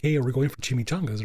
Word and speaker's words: chimichanga: My friend Amy was wanting to try it, so they have a breakfast Jimmy. Am I saying it right? I said Jimmy. Chimichanga.